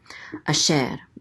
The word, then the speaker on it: Asher: the troper accent mark so the accent is on the second syllable a share and Asher means who that or